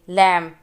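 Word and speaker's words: lamb: लैम, इसमें B नहीं बोलते।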